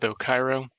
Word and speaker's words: Ochyro: How do you pronounce it? You know, I've always gone with Ochyro.